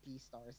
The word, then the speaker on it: Beastars: I'll pronounce it Beastars then.